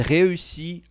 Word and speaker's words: réussi: Aqui, ó, você tem que fazer o biquinho nessa vogalzinha aqui, ó. Réussi, réussi. É um pouquinho complicado.